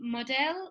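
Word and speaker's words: Modelle: so they have the modell lipstick which is spelled m-o-d-e-l-l-e like a french sort of thing it's a new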